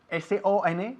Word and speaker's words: son: S-O-N, que se pronuncia exactamente igual que la palabra S-U-N, que significa sol.